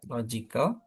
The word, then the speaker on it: logical: atas kan sudah coba logical. Nah, berarti gimana coba Pak Abdi dulu? Explanation. Nah, logical gitu kan. Logical law. Law-nya yang panjang ya berarti lawya yang sor yang ditekankan bukan panjang sor ya yang ditekankan.